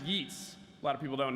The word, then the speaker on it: Yeats: Yeats, which is actually pronounced Yeats.